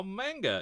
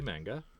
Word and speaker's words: manga: you ask about how manga is produced we go again the ma sound sound is pronounced like the ma in mama not the ma in man I hope that helps